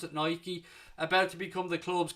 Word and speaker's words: Nike: Nike or Nike I'm sure I'm supposed to pronounce it Nike about to become the club's kit manufacturer from